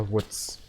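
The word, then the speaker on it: Wutz: Yes, it might sound strange, but in Germany, it's Pepper Woods. It's something really funny. They completely didn't translated the name into something different. Dude. Yeah, it's a typical German pronunciation. It's spelled W-U-T-Z.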